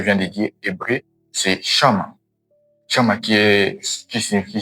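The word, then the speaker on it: Shammah: À la première position, on a Shama qui est obéir. Qui est obéir. Sha Shama qui s'écrit S H A M M A H.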